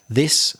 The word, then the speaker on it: this: This singular, these plural. The spelling doesn't help you. This is the problem with English. So THIS is the short sound, singular, this.